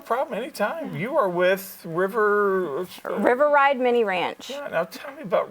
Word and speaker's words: River Ride Mini Ranch: So tell me all about River Ranch. Okay, sure. River Ride Mini Ranch. Oh, I said it wrong. Say That's it one okay. more time. River Ride Mini Ranch. River Ride Mini Ranch, okay.